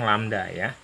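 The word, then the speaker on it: lambda: sebelumnya panjang gelombang itu diberi lambang lamdaya ini dibacanya lamda panjang gelombang satuannya m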